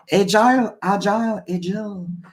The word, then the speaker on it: agile: Agile. I prefer to say agile. Even if I hear some British saying like agile or blah.